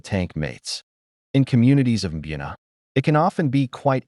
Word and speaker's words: Mbuna: Mbuna, pronounced Mbuna, are a group of cichlids from Lake Malawi in eastern Africa.